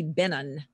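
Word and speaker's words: Benton: like that in Louisiana there's a town B ent o N and if you don't say Benin they laugh you off the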